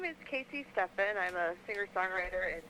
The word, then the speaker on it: Cassii: these various things It's all under my name Casey Stephens which is spelled weird it's c-a-s-i-i and then Stefan s-t-e-c-h-a-n